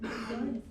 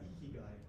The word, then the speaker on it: ikigai: Am I pronouncing it right? Ikigai?